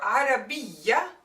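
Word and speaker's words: عربية: So we adjust the a, and we ignore the ta because it is not pronounced. We hear just the ya, Arabiya.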